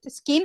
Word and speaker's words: skint: Skint when you have no money, when you are broke, you are skint. Yeah, although I'm hearing a vowel before the S there. It's just skint.